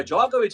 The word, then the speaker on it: Djokovic: நிறைய இருக்கு இப்ப ஜாக்கோவிச் வந்து இவ்வளவு காலமா வந்து கொடிகட்டி பறந்துருக்காரு ஓல்டஸ்ட் பிளேயரா வந்து திகழ்ந்த இப்ப அதுலயும் ரெக்கார்ட் பண்ணிருக்காரு.